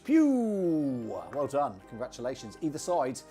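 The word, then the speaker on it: Pugh: Ray P-U-G-H, Pew.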